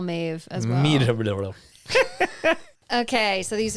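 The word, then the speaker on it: Meadhbh: next one all right m e a d h b h four consonants in a row okay okay here you go Maeve Maeve what yeah we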